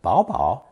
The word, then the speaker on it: 宝宝: As for pronunciation, double bao can be read normally as bao bao or changed to bao bao, with the last one sounding the cutest, according to my Chinese female friends.